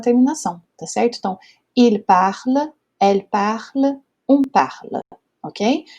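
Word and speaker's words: parlent: E aí a pronúncia fica il parle, ok?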